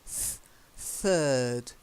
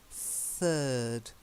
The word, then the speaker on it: third: important you've got to get the sound soft not like the it's the softer third third try it that's better because if you say Ted that's another name for a poo okay so you really want to get that one right there's your incentive to practice the softer sound okay third so third in line